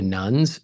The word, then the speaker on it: nones: me about this because she thinks when I'm talking about the nuns I'm talking about some Catholic sisters but it's not spelled like that it's the n o NES people who say when